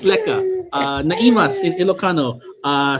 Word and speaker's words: lekker: So, uh how do you say it? Lekker. It's lekker, right, Alicia? All right, so it's lekker.